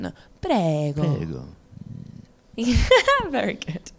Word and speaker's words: prego: And prego. What's that mean? I think it means you're welcome. Imprego? Prego. Prego. Yeah, I think we should try with the accent though. Prego.